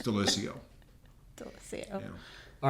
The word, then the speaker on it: Daliessio: Did I say that right? No. I didn't. I'm leaving now. I said my name wrong. I knew that was going to happen. Daliessio. I was close. Yeah. Daliessio. Yeah.